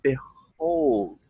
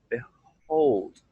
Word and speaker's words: behold: Open your mouth wide after the first syllable and the first vowel sound. Be-ho, be-ho. And again, like I'm doing there, we're going to breathe out through the open mouth once it opens up.